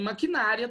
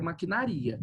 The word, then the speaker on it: maquinaria: Então você não fala, tem maquinária também, né? Mas aqui no caso sem acento a palavra é maquinaria, ok?